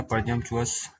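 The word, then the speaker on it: presumptuous: Next जो है क्या है, परजम परजम्पचुअस है, परजम्पचुअस इसका जो राइट प्रोनाउंसिएशन है परजम्पचुअस।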